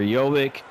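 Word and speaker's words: Jović: Not sure if it's Jovic or Jovic. It's Jovic. Jovic. And as I said, I'm learning some of these pronunciations from the PA announcers.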